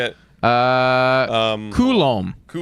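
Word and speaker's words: Coulombe: I said Colbe and everyone's like lol pronunciation. How the hell do you say it? Say it. Uh um Koulom Koulom.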